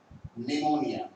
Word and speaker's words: pneumonia: निमोनिया। P silent होता है, एन ई यू न्यू मो निया।